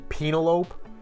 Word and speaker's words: Penelope: on penelope ford yeah i was told last week that it was supposed to be penalope yes i was mispronouncing my mispronunciation this match was good